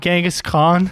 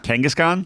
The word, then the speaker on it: Kangaskhan: How do you pronounce this Pokemon? Genghis Khan? No. The Pokemon? Kangaskhan?